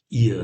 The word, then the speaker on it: ihr: And but ihr Ihr, the pronunciation is ihr.